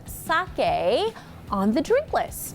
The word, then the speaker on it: sake: Hayashi, General Manager of Sake House in Phoenix, Arizona. But first, I want to say it correctly. So I'm not going to say sake, right? Definitely not. Say sake.